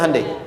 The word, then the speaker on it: Hyundai: bikin Honda sini Hyundai Hyundai kan dibacanya hundai ya kan sana Honda